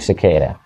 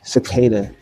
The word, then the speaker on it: Sequeira: Cicada. I always try to put some accent behind it. I don't know why it's that Q. Well, the accent is the uh the R is pronounced like D.